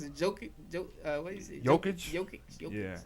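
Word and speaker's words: Jokić: Jokic. Yeah, it's like spelled with a J, but it's like Jokic.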